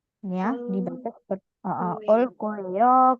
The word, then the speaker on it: 올 거예요: 자, 그리고 여러분, 올 거예요 di sini dia ada aturan pelafalan di mana gioknya dibaca seperti huruf K. Ya, dibaca seperti 올 거예요, 갈 거예요, seperti itu.